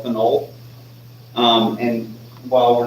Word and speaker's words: phenol: Phenol is this molecule here. Right? And so you want to emphasize the OL when you have phenol to avoid confusion there.